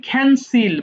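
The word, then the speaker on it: cancel: আসসালাম এরপর কি বলেছি ক্যান্সেল বাতিল করা ক্যান্সেল ক্যান্সেলড ক্যানসেলড দেখেছো এখানেও কিন্তু ক আছে বাট আমি ক বলিনি বলেছি খ সো এটা হয়ে গেছে ক্যান্সেল এরপর দেখো ক্যারি বহন করা।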